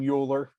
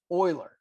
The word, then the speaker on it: Euler: be attributed to Oiler please don't call him uler Oiler it's pronounced oil okay remember from calc one linearization